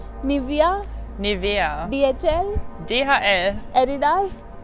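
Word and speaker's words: Nivea: से कि German brands को एक जर्मन कैसे प्रोनाउंस करेगा। सो हाउ वुड यू से BMW BMW Audi Audi निविया निविया DHL DHL Adidas Adidas Puma Puma so different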